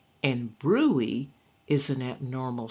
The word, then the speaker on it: bruit: It is pronounced bruit. And bruit is an abnormal sound made when blood rushes through a partly blocked blood vessel.